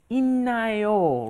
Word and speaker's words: 있나요: Normally you think 있다, it's like a D, right? But then when you combine a D plus an N, it turns into 있나요, right?